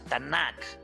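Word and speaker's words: Tanakh: se pueda entender pero realmente la palabra tan sólo lleva a una t una n y una k así se lee y así se pronuncia tanak entonces es ate y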